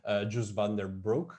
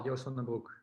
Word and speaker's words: Joost van den Broek: because you have worked again with the producer Jus van der Broek. I don't know Yeah. how it is pronounced. Yeah, pretty well, Joost van den Broek.